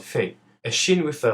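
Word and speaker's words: פ: A pey with a dagesh sounds like I taught you, pey, and the pey without a dagesh is pronounced with a f sound and is called fey.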